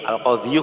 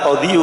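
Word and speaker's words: القاضي: Jadi bacanya al-qadhi saja, enggak al-qadhiyu.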